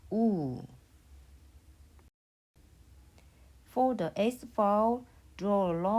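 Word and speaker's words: ㅜ: It is pronounced oo.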